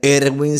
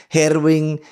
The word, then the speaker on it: Ervin: En sus distintas variaciones, porque en mi cultura Ervin pudiera ser Erwin si se pronuncia con todas sus letras, y si se pronuncia de una forma más ligera pudiera ser Herwin, Elvis, Irving, etcétera, etcétera, etcétera, ¿no?